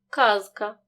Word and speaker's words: казка: глухим не оглушуємо наприклад у слові казка дзвінки з перед глухим к вимовляємо чітко казка у слові стежка дзвінки